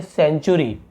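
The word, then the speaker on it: century: नहीं पढ़ेंगे वैसे ही देखिए सी के बाद फिर यहां पे ए है तो ये सेंचुरी सेंचुरी हम सेंचुरी नहीं पढ़ेंगे आप पढ़ेंगे सेंचुरी यहां पर देखिए सी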